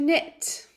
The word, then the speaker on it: knit: hurt hurt hurt to knit remember when you use K and N together in English that we don't pronounce the k so words like this could be no knowledge or knock it knit knit knit knit